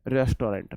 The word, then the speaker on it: restaurant: रेस्टोरेंट, रेस्टोरेंट बोला, रेस्ट्रा बोला जाता है।